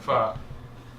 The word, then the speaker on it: pho: Yeah, I mean, she didn't really tell us it was going to be in the unfinished basement of a faux restaurant. Pho. My bad.